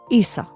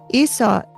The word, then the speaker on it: Isa: Then we have Isa. Isa, spelled I S A, is ice.